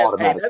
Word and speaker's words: Aubrey: Make sure you say his name right. That's Aubrey.